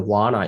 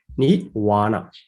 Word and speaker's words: Nibbāna: it comes from Nibbāna, is pronounced as the Vana in Burmese pronunciation, Nibbāna. But in the international pronunciation, it is called the Nibbāna.